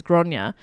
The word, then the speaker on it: Gráinne: hear you because uh grace o'malley is is uh the anglicized name yeah and not a an actual close translation um granite isn't it doesn't mean grace so it's it's uh his actual name is gronya um and so uh